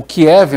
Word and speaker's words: Kiev: de água em que o Kiev né que seria pronúncia em russo nesta terça-feira teve alertas